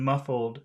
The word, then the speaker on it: muffled: noun okay and which which syllable in muffled has the accent muffled muffled muffled muff muff muff muff okay muff muff all right